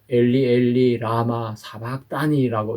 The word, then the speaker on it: 엘리 엘리 라마 사박다니: 그래서 엘리 엘리 라마 사박다니라고 이렇게 정확하게 발음하셨던 것입니다. 자, 우리가 마태복음에서는 엘리 엘리 라마 사박다니라고 했다면 마가복음에서는 엘로이 엘로이 라마 사박다니라고 그렇게 기록을 했습니다.